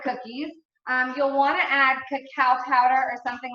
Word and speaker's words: cacao: could admit this I wanted to call this cake up for so long let me see a raise